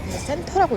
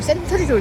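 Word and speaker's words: Centre: 여긴 영국 영향을 받아서 센 센도 약간 스펠링이 다르죠 센터라고 읽더라고요 저거를 그래서 제 마서 저걸 센트리를 있다가 센트리가 아니라고 망신 당했습니다 여러분 망신 당하지 마세요 센트리가 센터라는 것을 기억해주시길 바랍니다 밥을 먹으면 항상 과자가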